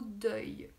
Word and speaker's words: deuil: question de prononciation donc comment on prononce le mot deuil deuil c'est toujours le son qui est difficile pour les personnes qui apprennent le français c'est le son oeil donc il a tout à fait d'oeil à cette prestation donc ça se prononce deuil ok deuil si vous savez déjà prononcés y c'est déjà bien et vous rajoutez un des jeunes s'adonnent deuil voilà alors j'ai une